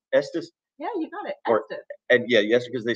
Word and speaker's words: Estes: Estes.